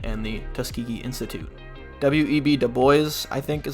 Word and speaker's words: Du Bois: Du Bois, I think is how you say it, a more radical black leader.